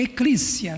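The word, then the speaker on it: ἐκκλησία: Eu vi, fui lá no Google, pá, deixa eu ver o como é que essa palavra é pronunciada no grego, né? Pelo menos o grego de agora. É eclícia, né?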